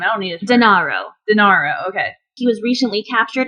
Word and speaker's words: Denaro: Recently, like as I said, notorious mob boss on January 16th, Matteo Messina Denaro, not to be confused with Dinardo, who I will be tying back to my hometown in a hot second.